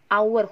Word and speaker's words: hour: Karena dibaca H ini sama O, hour, huruf hidup A.